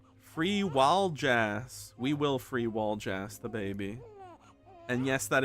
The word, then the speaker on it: Waljas: We will free Waljas the baby. And yes, that is how it's pronounced.